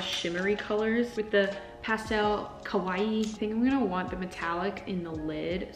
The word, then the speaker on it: kawaii: This last aesthetic that I'm gonna do for you guys, I believe it's pronounced kawaii, like Hawaii, but spelt with a K.